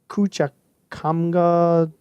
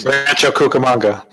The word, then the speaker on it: Cucamonga: can read that from Rancho kucik come god California Cucamonga go there you go look at that look at that pronunciation and basically this book